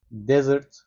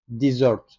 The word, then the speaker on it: desert: fiil olarak da kullanılıyor ama fiil anlamında kelimenin telaffuzu değişiyor Bir öncekine bakalım çöl anlamındaki isim yazılış yine aynı okunuş yazılış yine aynı terk etmek anlamına geliyor bu sefer ama telaffuz Desert şeklinde kullanılıyor He deserted her onu